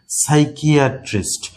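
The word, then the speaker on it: psychiatrist: সাইকিয়াট্রিস্ট, পি কিন্তু silent হয়ে গেছে, পিএস প্রথমেই কিন্তু ছিল।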